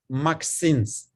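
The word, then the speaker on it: MXenes: and we pronounce it maxiness for just easy pronunciation uh like a lady's name titanium 362 was the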